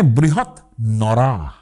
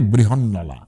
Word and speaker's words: বৃহন্নলা: উর্দুতে তো হয় সেখানে বৃহৎ নরা এইভাবে যদি ভাবি তাহলে বৃহনলা সংস্কৃত এবং হিন্দিতে র এর কিন্তু ল উচ্চারণ হয় অনেক জায়গায় কিন্তু এর মানেটা দাঁড়ায়